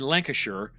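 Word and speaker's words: Lancashire: British here, West Yorkshire and Lancasher because it's not Shire for some reason.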